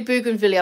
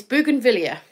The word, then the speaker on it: Bougainvillea: But it's actually Bougainvillea. I've had some lessons in how to pronounce it. Thanks, Jackie. And it's Bougainvillea.